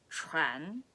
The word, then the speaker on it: 船: Again, that's 船. It's a very difficult word to pronounce properly.